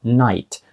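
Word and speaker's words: knight: про написанні вони є почнемо зі слова Night night означає лицар а Night означає ніч Так ось вимовляються вони однаково але в слові лицар Night K глуха Тобто вона там пишеться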